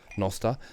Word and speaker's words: Nostr: Damus, the Nostril. Are we talking about Nostril? no, Nostr, yeah. Nostr. So Damus being the Or Nostr, client, Preston. the app client for the Nostr protocol, Nostr.